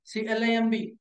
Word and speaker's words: climb: Whenever you find the letter MB, the letters MB at the end of any English word, the B must be silent letter. WOMB, womb. TOMB, tomb. BOMB, bomb. CLIMB, climb.